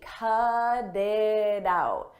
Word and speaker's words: cut it out: In American English, when a T comes between vowels, we change that to a d, a very soft D. Cut it out, cut it out. And I pronounce all 3 as one.